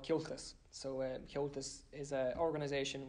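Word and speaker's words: Comhaltas: I think it's about, like, I think it's spelled C-O-M-H-A-L-T-A-S, Kyoltas.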